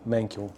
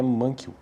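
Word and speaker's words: Mankiw: Bom, se fosse para e pronunciar isso de forma correta mesmo, seria de outra maneira, né? Eu acredito que seja que seja Gregory Mankel, mas vamos estamos no Brasil, então eu pronuncio do jeito que parece para mim aqui que é Mankw.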